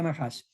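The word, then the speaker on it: נחש: Nahash, se pronuncia Nahash.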